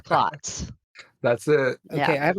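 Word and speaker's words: Klotz: Roger clots clots I didn't remember how you pronounced his last name Roger M clots that's it okay I have a question real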